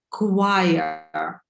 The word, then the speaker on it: choir: Right, and when a lot of people sing together, it's called in English a choir. Yeah, choir. Пишется как хор, но читаем choir.